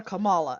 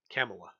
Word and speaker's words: Kamala: what I learned because I used to call her Camala and apparently the way you pronounce her name is like Pamela but with a K oh okay camela that almost sounds that's